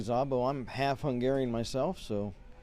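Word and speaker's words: Szabo: trojans coached by rick zabo zabo spelled s-z-a-b-o that's believe a hungarian name if i'm pronouncing correctly zabo i'm half hungarian myself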